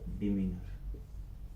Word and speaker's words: demeanor: D-E-M-E, I think A-N है, D-E-M-E-A-N-O-U-R, D-E-M-E-A-N, लिख देते हैं दोबारा, कोई बात नहीं, D-E-M-E-A-N, इसको प्रोनाउंस कैसे करेंगे हम, डिमीनर, डिमीनर, ठीक है, कैसे करेंगे, डिमीनर, डिमीनर, ए